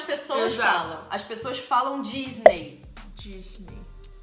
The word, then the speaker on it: Disney: Você precisa fazer D aqui. No céu da boca. Ah. Disney.